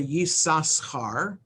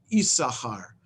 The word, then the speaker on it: Issachar: there in um but the second sin is not pronounced so it's not the yi sashkar because there's no vowel